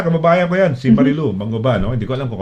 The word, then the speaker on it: Manguba: Ang pronunciation, no? Manguba.